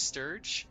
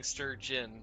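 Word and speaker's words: Stirge: oh monster is sturge and you're saying stur inin like the fish oh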